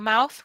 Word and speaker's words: mouth: A mouse is an animal. A mouth with the th is this.